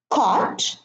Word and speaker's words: caught: Caught and taught.